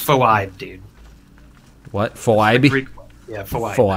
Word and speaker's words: Phoibe: It's pronounced Phoibe, dude.